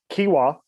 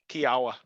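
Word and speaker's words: Kiawah: Kiwa, is that how you say it? Kiwa? Kiawa.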